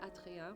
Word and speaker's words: Adrien: But anyways, a side note that I want to say Adrien because like I'm used to that like pronunciation. But Adrien's also a fine way to pronounce this name.